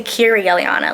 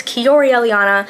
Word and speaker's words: Keyoríe Eliaña: channel I'm kir Elana I always pronounced my name wrong in the intro kiori Elana I always say Ki Elana like no it's kiori Elana guys I don't know it's